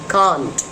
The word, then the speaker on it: can't: नाउ इट इज नॉट कैन नॉट, इट इज कांट.